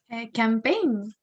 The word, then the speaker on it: campaign: Could you pronounce number 7? Campaign.